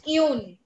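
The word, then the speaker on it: une: Then another rule that we studied is, for feminine things, if we want to use a, we use yun.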